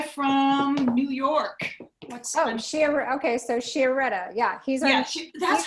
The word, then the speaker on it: Chiaretta: Okay, so Chiaretta. Yeah, he's Yeah, our that's how it's new- pronounced.